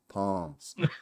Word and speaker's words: Psalms: P Psalms and then the S is silent. Palms.